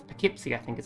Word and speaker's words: Poughkeepsie: It's Poughkeepsie, I think is how you pronounce that one.